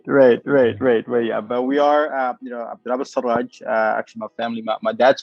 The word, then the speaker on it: Elsirag: So it's Abdelwahab Sarraj, but for whatever reason, I think a lot of people call it Siraj for Yes, that it's is Sudanese because Siraj is very Sudanese name.